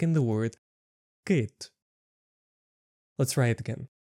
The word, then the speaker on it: кит: And you got the sound e like in the word kit.